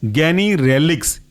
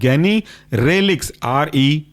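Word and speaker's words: Ganirelix: दूसरा जो सब क्लास था ना, गोनेडोट्रोपिन रिलीजिंग हार्मोन एंटागोनिस्ट, इसके अंदर का पहला एग्जांपल है गैनीरेलिक्स, गैनीरेलिक्स GANI, गैनीरेलिक्स RELIX, गैनीरेलिक्स।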